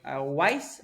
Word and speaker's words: Weis: The most correct one is Weiss, but Weiss. come from the German root. But Weiss is also acceptable.